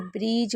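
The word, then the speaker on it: bridge: और जब भी डी जी ई होगा तो डी हमेशा साइलेंट रहेगा और सिर्फ डी जी ई को ज पढ़ना है। यानी कि कहीं पर भी अगर डी जी ई दिखे तो आप उसे ज पढ़ेंगे। ठीक है?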